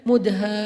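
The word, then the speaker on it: مُدْهَامَّتَانِ: Bacanya juga harus panjang karena dia rimbun banget. Sehingga bacanya Mudhammatan.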